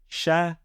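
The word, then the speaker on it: شكر: And all 3 letters have a fatha on them. So we would pronounce this word as shakara.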